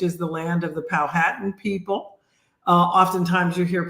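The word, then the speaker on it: Powhatan: Richmond Virginia which is the land of the palh hatan people uh oftentimes you hear people pronounce it palatin um but um so we think it's important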